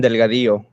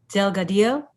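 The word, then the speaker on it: Delgadillo: their statements uh yeah my name is Delgado can you spell that name please yeah space d e l g a d i l l o and that's Delgado yes Delgado thank you Mr Delgado um today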